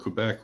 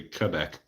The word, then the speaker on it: Quebec: When I was a kid, we were told Quebec was pronounced like the qu in queen. As an adult, I was told it's supposed to be Quebec.